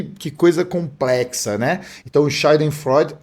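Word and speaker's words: Schadenfreude: o meu alemão aqui, mas é a palavra shiden freud. E a pronúncia foi foi justa porque eu já conversei com muito alemão e eu já tive essa conversa aí é Shiden Freud.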